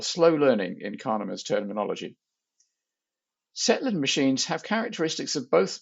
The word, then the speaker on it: Tsetlin: Well, firstly, you did pronounce it correctly, so they are indeed called Tsetlin machines after Michael Tsetlin.